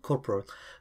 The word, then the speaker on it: corporal: Anyway اللي بعدها corporal، أنا شخصياً كنت نطق فيها غلط corporal لكن هي تنطق corporal.